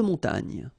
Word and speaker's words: montagne: So remember here, O-N, on, mon, ta, and then this G-N-E, ny. Montagne.